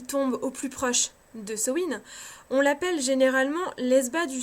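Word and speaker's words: Samhain: plus proche de sowin alors oui je prononce ce win je sais que beaucoup de prononces sa main non je prononce ce win tout simplement parce que je le prononce à l'irlandaise parce que c'est comme ça que je l'ai appris tout simplement donc ne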